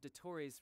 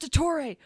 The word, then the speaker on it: Dottore: Based on my limited understanding, I believe this is one of Dottoro's research facilities. Oh, it's pronounced Dottore!